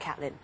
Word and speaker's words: Caitlin: My name is actually pronounced Caitlin.